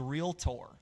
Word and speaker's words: Realtor: Well, then the way to actually pronounce it is realtor, okay? Like realtor, like Tory, okay?